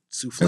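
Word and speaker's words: soufflé: Oh, souffle. Am I saying it correctly? Oh, you said it exactly correct.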